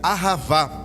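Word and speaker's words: אהבה: Irmãos, no hebreu, na língua dos hebreus, amor se pronuncia ahavá, e o significado de ahavá é dar ou doar.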